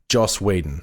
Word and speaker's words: Joss Whedon: for the listeners yep say his name slowly Joss Whedon thank you yeah no I just wanted to make sure people weren't thinking you were saying Josh probably my Lisp jo